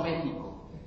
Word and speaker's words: México: México porque es curioso decimos México y lo escribimos con x Cómo está eso en las escuelas no dicen que la J se pronuncia y que la x Entonces por qué Si lo escribimos con x pronunciamos como J a poco a ver